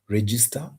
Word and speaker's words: register: For example, in some cases, and this is commonly tested in KCSE, some verbs have their stress falling on the first syllable, e.g., manage, register, exercise, promise, answer.